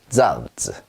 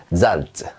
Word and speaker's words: Salz: 자, 어떻게 발음하냐면 쌍지읒 발음이 납니다. 우리말로 약간 세게 찌 소리가 난다. 그래서요, 소금이란 뜻이죠. 잘즈 이렇게 해주시면 되겠어요.